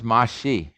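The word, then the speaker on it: 맛이: so that's mot but here the s is followed by a vowel so it's released and it becomes mashi you could say mat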